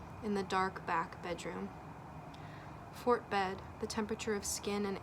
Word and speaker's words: Fort Bedd: Fort Bed. The second D is silent.